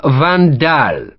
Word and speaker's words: van Daal: hostility in sharps eyes colonel van daal he said putting the stress on the name second syllable sends his compliments monsieur